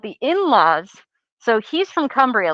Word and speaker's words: Cumbria: oh my goodness he's from a place called cumbria it's spelled c-u-m-b-r-i-a so i was like like humber